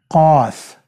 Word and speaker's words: قاف: And then you have the letter قاف, قاف, which is pronounced ق, ق. This is not K in English. It is a powerful way of Q, even not Q, but it's a powerful way. It comes from the very back end of your throat, okay?